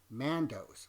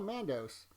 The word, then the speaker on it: Mandos: gathers them up in man do which is the correct way to say it I was leaving off the s a few times earlier but in a separate Great Hall they're still Mandos but they are away